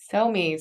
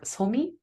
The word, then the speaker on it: Sohmi: Sohmi.